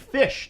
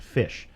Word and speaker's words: Phish: Now, there's a band Fish that we like. Phish. That's how they spell it. Fish.